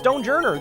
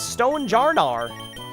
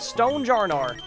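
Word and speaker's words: Stonjourner: That rock tight from generation 8 is not pronounced stonejourer. The official pronunciation is stone jarnar. That is correct. It is stone jarnar.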